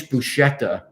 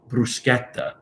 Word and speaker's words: bruschetta: a special we have a very nice buchetta and i'm like you just spoiled the whole thing for me call it bruschetta get the correct pronunciation right if you're going to